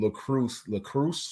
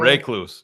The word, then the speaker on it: recluse: He has a cane because he lost a toe because he got bit by a brown Lacrosse spider. I'm saying it wrong. Recluse, yeah. Recluse.